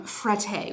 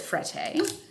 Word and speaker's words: Frette: me sounds a little bit like the way that Target sounds when I say Target, right? But who am I to fight the French? If you are unfamiliar with Frette, extremely high-end linen brand.